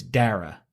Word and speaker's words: Dara: My name is pronounced Dra like data. So, it's Dara. Dara. Okay. Yeah. Dra. Okay. Dra like dare to dream.